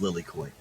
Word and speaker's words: Lily Koi: pretty good oh god lily coy if you're gonna if you're gonna have it's like if you're gonna have any problem pronouncing it it's lily coy thank you i was